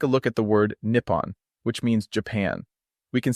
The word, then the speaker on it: Nippon: it to double consonants double consonants mean we pause for a tiny moment and make the consonant sound a little stronger so we say Nippon with a small pause before the pawn however in certain cases